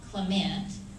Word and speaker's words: Clement: nfib are represented by paul clement emphasis on the last syllable and michael carbon paul